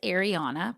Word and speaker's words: Ariana: My name is Ariana, pronounced A-ri-ana, or say it how you want, because pronunciation."